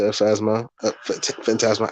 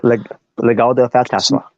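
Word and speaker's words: Legado del Fantasma: No Santos, no Legado to Phasma, Phantasma. I keep mispronouncing that name. Legado de Fantasma.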